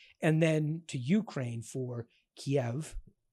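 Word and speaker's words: Kyiv: then to Ukraine for Kiev now the Ukrainian pronunciation is preferred ke and Yalta which is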